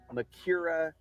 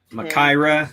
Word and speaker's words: Makaira: i've got an akuma makira makaira you can't even say it right it's going to give